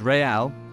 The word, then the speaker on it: Real: Andy Corbin gives Real Bedford a crucial lead! Welcome to Real Bedford. It's pronounced Real, not real, because the owner, Peter McCormack, has Champions League dreams.